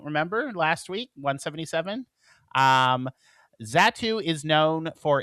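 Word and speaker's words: Xatu: Um, and then the final one, Pokemon 178, is Zatu, even though it's spelled with an X. Zatu is a mystic Pokemon.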